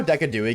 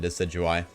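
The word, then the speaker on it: Decidueye: I love how Decadooi gets mispronounced. True. A Decadooi is so much more fun to say than Decidui.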